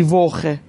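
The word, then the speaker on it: Woche: اینجا سی ها یا سی اچ رو میبینید قبلش او اومده، بنابراین باید خ تلفظ بشه، دی ووخه.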